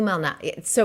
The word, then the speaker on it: Malnati's: Lou Malnati. So it's Lou, but it's like it's Malnati.